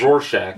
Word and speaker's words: Rorschach: Is it Rorschach? Rorschach, yeah.